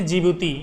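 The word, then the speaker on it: Djibouti: यह किया है जिबूती देखिए जिबूती इसमें डी साइलेंट है ये जिबूती ये हर्न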